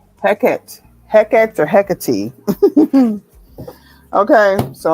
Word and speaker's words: Hecate: Hecate is how it's usually pronounced when you talk about the ancient Greek goddess. Hecate.